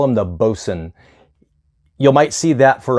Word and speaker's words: boatswain: Swain but you want to call them the Boson you might see that for a boson's chair that we use for hoisting somebody up the Mast it's not boatswain it's Boson if you're going over the terminology for ASA